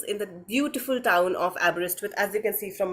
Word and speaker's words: Aberystwyth: the uh pronunciation so I break it down to three parts so it's ABS as an ABS that we all yearn for wrist and with so it's app wrist with and short form is